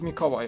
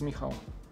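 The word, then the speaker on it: Mikołaj: your polish name is mikawai okay i thought it was miho sorry much see i would butcher that name and go make a large but uh mikawai that's the polish pronunciation it's like the equivalent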